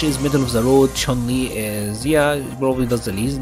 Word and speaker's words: Chun-Li: I think this is how you're supposed to say her name, Chun-Li. That is the correct pronunciation.